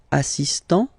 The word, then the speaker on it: assistant: Il est assistant. So don't pronounce the final t here.